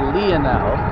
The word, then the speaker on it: Lionel: oh i haven't watched lionel in a couple days or leonel see the i in greek is pronounced as an e so instead of having line you get leon rather strong gust of